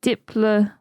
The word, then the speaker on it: Diplodocus: If following the Greek rules, the correct pronunciation should be Diplodocus with a soft O to rhyme with Liplodocus.